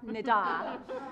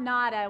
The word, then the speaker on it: Nida: I like to say, for the people in this room who do not know me, my first name is pronounced like ta-da, Nida, not nada, which is nothing in Spanish, so a whole different thing.